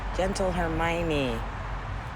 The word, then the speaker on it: Gentle Hermione: there's a lot of beds over here gentle hermione there you go that's how you pronounce it i just remembered okay i missed